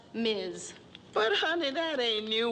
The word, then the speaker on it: Ms: things equal we have this new designation in front of our names ms pronounced miz but honey that ain't